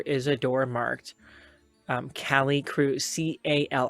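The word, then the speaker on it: Calicroup: a door marked um cali crew c-a-l-i-c-r-o-u-p cali crew c-r-o-u-p it's not croup it's crew but that's how it's spelled my microphone's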